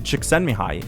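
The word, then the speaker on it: Csikszentmihalyi: psychologist extend behind okay i had a professor point out how to say it to me when i was in my masters according to chiksanmihai the state of flow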